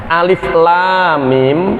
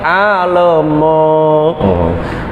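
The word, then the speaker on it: الم: Alif masih dibaca sebagai alif. Lam masih dibaca sebagai lam. Mim dibaca sebagai mim. Karena ada sebagian orang yang membacanya saat tadarus, mereka sebenarnya tidak tahu tajwid, mereka tidak pernah dikoreksi, jadi mereka membacanya seperti pegon (aksara Jawa). Alif lam mim dibaca sebagai "alemo".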